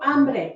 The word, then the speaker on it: hambre: It's pronounced tengo hambre. Remember, H's are silent, right?